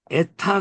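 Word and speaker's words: ἦτα: 근데 요 에는 발음이 좀 짧아요. 그냥 에야. 근데 요 에타, 요거 지금 에타죠? 에타는 에가 길어요.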